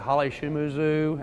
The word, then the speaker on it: Holly Shimizu: like 40 50 vendors out there we've got Holly shumuzu and believe it or not that's how you pronounce that name and Michael why isn't Han